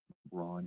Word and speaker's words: Bran: Bron is B R A N Bra the Blessed.